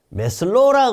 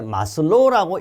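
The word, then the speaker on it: 매슬로: 다음 중 메슬로우라 그러기도 하고 요걸 읽을 때 마슬로우라고 읽어도 관계없어요. 메슬로우가 제창한 인간의 욕구는 사람의 욕구잖아요.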